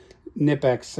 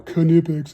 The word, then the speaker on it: Knipex: about a German tool keep these little nipex um I know kpex nobody gets all anal when you mispronounce something in another language other